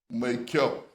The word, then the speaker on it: Maikyau: yes, would you permit me to correct the way you pronounce that name? Maikyau. Maikyau. It's Maikyau. Yakubu Maikyau.